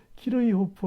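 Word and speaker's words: Kirchhoff: 발음도 안 하고 뭐 키르이호프 하면 독일 사람이니까 키르이호프라 그러겠지 처음에 못 알아들었어요. 그 사람들이 발음하는 걸. 그 사람은 컬캅이라 그래요. 컬캅. 그러니까 키르이호프하고 컬캅하고는 좀 다르죠.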